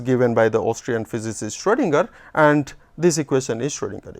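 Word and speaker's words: Schrödinger: o uml out and it is pronounced as if it is o e so s c h r o e stronger ah this this equation was given by the austrian physicist schroedinger and this equation is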